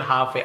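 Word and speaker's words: halfway: हाफ वे एल यहां पे silent है केवल हाफ वे आधा रास्ता वो आधे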